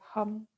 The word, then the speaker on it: Ham: we're going to chant the seed mantra of this chakra which is ham but it's kind of pronounced like hum so we inhale and then we'll exhale to hum we'll do that three